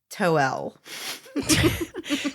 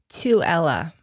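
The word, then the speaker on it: Tooele: said toel yeah so can I tell you you got the middle part right you got the so it's to Ella oh oh that's kind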